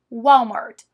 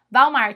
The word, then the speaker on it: Walmart: marca de supermercados Walmart mas não é assim que eles falam eles falam Walmart Walmart é assim que eles pronunciam então se você for